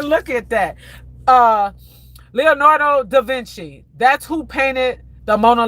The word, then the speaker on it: Da Vinci: Okay, you guys make sure I'm pronouncing this right. D A V I N C I. D Vinci.